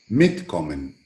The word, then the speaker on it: mitkommen: But the last one takes the accent on mit. Mitkommen.